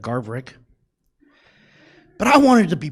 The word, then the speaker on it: Garverick: new uh basketball coach he couldn't say my name correct so it was always garlic instead of garverick but i wanted to